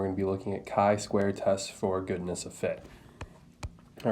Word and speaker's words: chi-square: the chai square statistic if you say chai square to a statistician they are going to cringe on the inside so this is chi-square i understand how hard